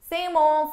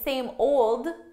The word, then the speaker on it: same old: what's happening what's happening same ole same ole so here I'm actually saying same old same old but notice for pronunciation I'm really just dropping those deeds same old same old